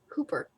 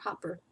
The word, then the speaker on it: Hooper: 19-year-old Gwendolyn Hooper, Hooper, not Hopper.